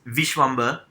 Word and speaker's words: Visvamba: My name is Visvamba. It rhymes with cucumber, November, fishmonger.